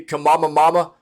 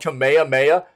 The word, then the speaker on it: Kamehameha: Seeing people trying to make videos about Fortnite and calling it like all kinds of crazy Kamama Mama and stuff like that. It was like Kamama Mimi. Like nobody could pronounce Kamehameha.